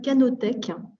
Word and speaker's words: Canotech: Donc, cette plateforme s'appelle Canotech. Ça s'écrit C-A-N-O-T-E-C-H, comme le début de canopée et tech technique.